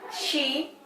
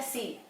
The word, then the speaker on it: she: Nah, she itu jangan pengucapannya si. Si akan berbeda, si itu melihat. Nah, kalau dia perempuan, kita nyebutnya she. Jadi she tulisannya S-H-E, she, bukan S-E ya, she itu dia perempuan.